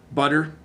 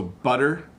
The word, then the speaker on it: butter: me says hi Bob could you please pronounce butter who water is spelt wrong wate our butter water better and focus on the T sound so butter butter water better okay